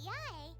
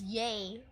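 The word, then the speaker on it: Yae: After all, everyone seems pretty excited about Lady Yai. We're curious to meet her too. I keep reading this as yay. The fact that it's pronounced yai keeps throwing me off.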